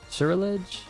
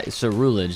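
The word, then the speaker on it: Ceruledge: Surrilage? Nah, we're good. Oh! Yo, he looks so sick. Him and Armor Rouge. Surrilage. Cerulege. Cerulege. That's how. Cerulege.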